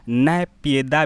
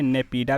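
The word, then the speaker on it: Naypyidaw: हिंदी में, शुद्ध हिंदी में नैपियदा भी कहा जाता है। तो यहाँ पे नेपीडा भी कहा जाता है, नाइपोते भी कहा जाता है। तो म्यांमार की राजधानी याद रखिए, ठीक है? करने मतलब वहीं उच्चारण देखते हैं ना, एक ही चीज़ को उच्चारण अलग अलग से करते हैं।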